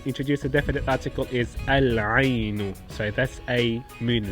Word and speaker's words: العين: And we introduce a definite article is Al-Ainu.